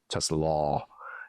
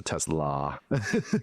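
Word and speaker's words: TeSlaa: Tesla law, you know, as opposed to Tesla. I've learned that just little little change in the little pronunciation there, but from Arkansas, third round pick, consensus graded, including myself.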